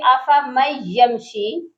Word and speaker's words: أَفَمَن يَمْشِي: جس میں بہت سے لوگ مسٹیک یہ کرتے ہیں أَفَمَن يَمْشِي، تو یہاں پر نون ساکن کو چھوڑ دیتے ہیں۔ ہم نے یہاں نون ساکن کو پڑھنا ہے، اس کے ہم ہجے کر کے دیکھتے ہیں، اسپیلنگ کرتے ہیں کہ یہ کیسے پڑھا جائے گا۔ حمزہ زبر أ، فا